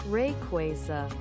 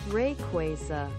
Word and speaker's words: Rayquaza: there this is this is fascinating rayquaza rayquaza rayquaza quay hey man is google saying rayquaza and it must be right okay let's let's